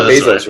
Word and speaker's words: Bezos: That's Jeff Bezos? Yeah, Bezos, right.